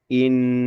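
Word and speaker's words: إنهم: Maka untuk nun tasdidnya kita bacanya innahum lebih lama ya gitu lebih ditahan lama. Innahum.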